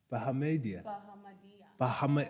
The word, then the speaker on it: Bahamadia: Bahamadia.